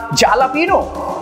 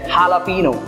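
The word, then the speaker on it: jalapeño: इसको कैसे प्रोनाउंस करेगा ऑब्वियस सी बात है वो इसको प्रोनाउंस करेगा जालापीनो नहीं ये जालापीनो नहीं है ये है हालापीनो यस हालापीनो हालापीनो एक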